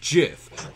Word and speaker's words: GIF: it's plain like a gif in your head shadow it's pronounced jiff like the peanut butter the creator that's dumb